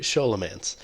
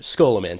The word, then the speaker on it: Scholomance: episode we're gonna do show elements or skull a man says it's correctly pronounced I did look that